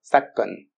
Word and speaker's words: 사건: Donc attention, ça s'écrit 사건, mais ça se dit bien 사건.